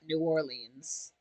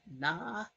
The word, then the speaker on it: New Orleans: Michael said it's pronounced Nalene, not New Orleans. I didn't say it like a local. My bad. Nahleen.